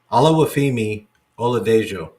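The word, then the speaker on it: Oluwafemi Oladejo: Yeah, I'm not pronouncing it. Hold on. Let me find it. Olawafemi Oladejo.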